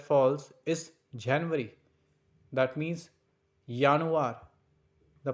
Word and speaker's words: Januar: That means Januar. The pronunciation is Januar.